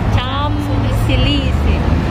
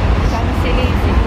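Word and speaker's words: Champs-Élysées: Huwag mong bibigyasin yung P. Cham. Silisi. Ilisi. Tabi yan ba? Cham Silisi.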